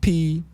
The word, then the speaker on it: Ptolemy: Couldn't say the P and the T together until you realize that the P is silent.